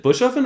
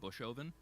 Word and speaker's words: Bushoven: for your last name is it Bush uffen or is it like do you say it like all together I don't know if that makes sense I it's I've always I mean my family's always said bushoven bushoven okay yeah uh but it's spelled bushoven so it is it is either either way is fine whatever's easier but I